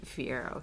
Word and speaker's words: Fiyero: Prince Fiyero. Fiyero, yeah. Fiyero, sorry.